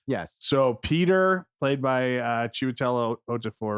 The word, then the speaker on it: Chiwetel Ejiofor: So Peter, played by Chiwetel Ejiofor, right? Is that how you pronounce his name? Yeah. Chiwetel Ejiofor.